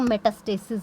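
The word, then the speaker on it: metastasis: आई एम not pronouncing this right. तो मेटास्टेसिस हो रहा है, yes that is much better.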